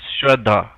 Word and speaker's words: Shraddha: You pronounce it shut up, but it's spelled Shradha. It's Shraddha.